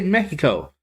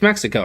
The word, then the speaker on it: Mexico: I was going to say Mexico. I heard somebody say it that way, but that's not how you say it. It's Mexico, right?